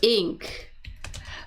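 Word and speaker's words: Inc.: be c inc and we pronounce that as ink and that is short for inc C is short for incorporated.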